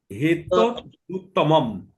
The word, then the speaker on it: হেতদুত্তমম: হেতদুত্তমম, দুত্তমমই দুত্তমম, দুত্তমম, দুত্ত একটা পুরো ম আর একটা আধা ম, শেষের মটা আধা ম, মম।